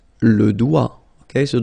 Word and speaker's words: doigt: Le doigt. Le doigt. Okay, so don't be frightened by this G because basically you don't pronounce it and then the final T you don't pronounce it. So the only thing you get to pronounce